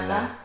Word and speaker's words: banana: Banana. So you have to make sure you have this long vowel sound in the middle.